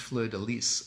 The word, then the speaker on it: fleur-de-lis: st or tummy tuck so fleur-de-lis it's actually pronounced fleur-de-lys according to a conference I went to but fleur-de-lis sounds a lot nicer so a fleur-de-lis is